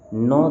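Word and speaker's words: gnaw: जैसे दिया हुआ है नो द फूड। इसको क्या पढ़ते हैं? इसको पढ़ेंगे हम लोग। नो the food. Ji silent होता है।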